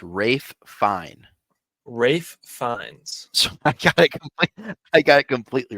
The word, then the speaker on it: Ralph Fiennes: Rafe It was Ralph Fiennes. Fiennes. Just like pull this up. Ray Fiennes. Ray Fiennes, yeah. But it's spelled Ralph. Rafe. Yeah, I know. That's why I got it wrong. Oh. Rafe Fiennes.